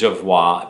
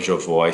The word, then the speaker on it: Jovoy: I recently found out exactly how you say Jovoy. I thought it was Jovoy because it's French, but the owner of Jovoy said Jovoy, and I'm like, okay, we've been saying it wrong all along.